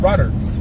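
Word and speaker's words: Wrudders: Top Fan and Randy, it's called Rudders with a W in front. The W is silent. It's Rudders.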